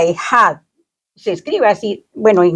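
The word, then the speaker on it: אחד: Una palabra que se pronuncia ejad, se escribe así, bueno, en hebreo es diferente.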